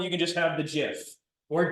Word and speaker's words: GIF: You can just have the GIF or GIF. But that's not how you pronounce it, in my opinion. Even though it starts with a G, right? It's like the peanut butter.